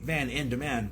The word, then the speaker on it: VanN Demand: it sounds smoother instead of just being like Van in demand, which some people say, because it doesn't change phonetically how it sounds, but I capitalize the